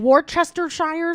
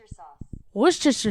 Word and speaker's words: Worcestershire: was was Worcestershire sauce I was adding so many extra syllables that I didn't even need like Worchester Shire sauce and I just it